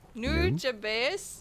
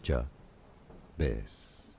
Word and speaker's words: Nujabes: Let's break down the pronunciation. Nujabes. Yeah. Nujabes. Nujabes. Stress on the first syllable.